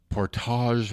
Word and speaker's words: Portage: So I was corrected the first time I was in Winnipeg when I pronounced it Portage and Maine. Portage. They're like, it's Portage in Maine. It's Portage in Maine. I'm like, actually, it's Portage.